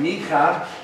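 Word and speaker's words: מיכה: Or if you prefer the Hebrew pronunciation, Micah. You got to do that kind of throat phlegm thing, Micah.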